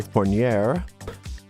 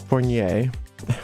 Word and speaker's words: Fournier: tarot of Marseille by Fournier it's not Fournier it's Spanish I was mispronouncing that for years and somebody finally told me that's actually he's from Spain anyway this is Provo